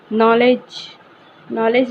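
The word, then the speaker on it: knowledge: जाता साइलेंट होता है नॉलेज में लिखा जाता है पर उच्चारण उसका नहीं होता इसकी वैज्ञानिकता को पुष्ट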